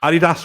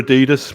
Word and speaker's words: Adidas: M Palmer Hammer mustard Adidas or Adidas what what what are you are you an Adidas man no I pronounce it properly so it's Adidas good man we're on